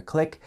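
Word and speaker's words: clique: disagreements between different clicks you probably notice already that click is spelled c l i q u e because it's coming straight from French when we talk about social groups at school it's always spelled this way if we're using any other form of Click it's spelled c l i c k I didn't like high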